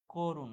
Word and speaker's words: করুণ: দেখো করুণ, এই শব্দটার উচ্চারণ কি, করুণ, তাহলে কিসের মতো উচ্চারণ হচ্ছে, ও এর মতো উচ্চারণ হচ্ছে।